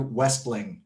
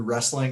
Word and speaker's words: Westling: it sure it's westling it's spelled like wrestling without the r without the r the most common mistake i get is wrestling and i have no